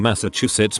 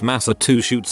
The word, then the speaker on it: Massachusetts: she isn't a flavor my mom has been pronouncing Massachusetts Massa to chutes for years and no one corrected